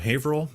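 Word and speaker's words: Haverhill: Rick Paige from Haveril, Massachusetts. And that is how you say Haveril, by the way.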